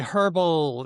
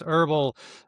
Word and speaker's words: herbal: In Australia, we say herbal. In America, it's herbal.